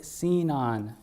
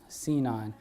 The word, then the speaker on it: Sinon: be sign on um actually a bit debates about like how to actually pronounce it i was on github the other day the maintainer calls it cenon cnon and everyone i've talked to calls it something sinian sign on sin on so yeah it's